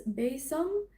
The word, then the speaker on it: besom: The next one she talks about is the besom, or I pronounced it besom. She has it pronounced as besom.